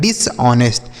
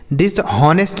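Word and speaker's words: dishonest: एस टी को पढ़ेंगे ऑनेस्ट तो यह लिखा है डिसऑनेस्ट डिसहनेस्ट नहीं पढ़ेंगे बच्चों यहां पे डिसऑनेस्ट पढ़ेंगे ठीक है एच साइलेंट होता है आगे लिखा है डी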